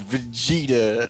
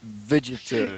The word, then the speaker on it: Vegeta: meth vegeta excuse me it is vegeta not vegetarian excuse me sir but i believe the name is kakarot sorry i try to say it like the real word vegetable yeah yeah well fireworks